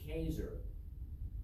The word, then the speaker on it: Caesar: to pronounce julius caesar it's not julius caesar it's julius caesar okay it was a k sound in latin the kaiser of germany